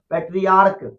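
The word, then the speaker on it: patriarch: इसके अलावा पैट्रियार्क, पैट्रियार्क में सी एच है लास्ट में, लेकिन इसका प्रोनाउंसिएशन क है, चौ नहीं, और इसीलिए इसीलिए इसमें भी एस लगा करके इसका प्लूरल बनाया गया।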